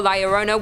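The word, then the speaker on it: La Llorona: a number two luck hailing from Hispanic folklore liarona which I'm pronouncing correctly now after you guys yelled at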